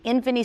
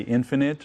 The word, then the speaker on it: Infini: trend in ffunny the Infini skin treatment what exactly is it well probably the hardest thing about this treatment is pronouncing it because we always want to say infinite or infinite right but it's a